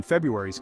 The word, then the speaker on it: February: As for why we don't bother pronouncing the first R in February, you can chalk it up to linguistic laziness. Basically, we have a tough time inunciating two Rs near each other, so we sometimes just drop one.